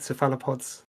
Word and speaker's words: cephalopods: That could be the cephalopod. Am I saying it right? Cephalopods. It is. It's just a Cephalopods. British way of saying it.